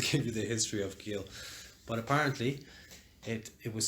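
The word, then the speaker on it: Geel: gone to belgium to a town called gill spelled without the h-g-e-e-l um and she'd gone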